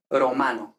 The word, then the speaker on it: romano: Entonces, romano. Ahora ya sí no sería fuerte, sería totalmente simple, ¿no?